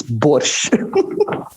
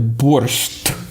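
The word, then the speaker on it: борщ: the world is boise i would suggest our listeners never call it a burst as as they usually spell it it's not bullish it's yeah that's um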